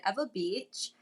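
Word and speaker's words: Ewa Beach: I actually grew up in a small town called Eva Beach. Uh that's how we pronounce it here.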